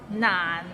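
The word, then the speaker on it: 難: i eat an orange none it's not not it means difficult and it's difficult to pronounce so it starts with n and ends with another end and it's in the low tone so practice and you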